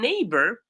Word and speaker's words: neighbor: neighbor by the way even neighbor it has a gh that is silent neighbor.